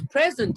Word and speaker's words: present: I was present at the lecture. I was present at the lecture. Stress on the first syllable.